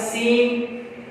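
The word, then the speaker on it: scene: इसके अलावा हमारे पास है सीजर्स, फिर हमारे पास है सीन, सीन लेटर है। यहां पर देखें कॉम्बिनेशन एस सी का, यहां कॉम्बिनेशन एस सी का, तो यहां सी साइलेंट है, सीन।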